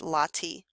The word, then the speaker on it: latte: is supported by LTI looks like the way we spell the coffee drink latte but it's pronounced latti these latti are Stone supports with cushion-shaped capitals and they are very large the latti you can see here